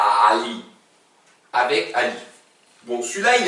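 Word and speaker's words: علي: Hein, on le prononce, la même chose mais en mettant les cordes vocales. On met le moteur. Ali, Ali.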